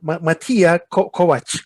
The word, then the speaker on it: Matija: i'm really curious who is who is mattia matia is it how do you pronounce it yeah yeah that's that's right you